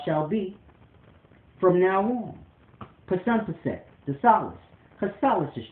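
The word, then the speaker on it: Psunpset: But I spell it with a P. P-S-U-N-P-S-E-T. Pasumpset. Pasumpset Solace shall be my name forever in life.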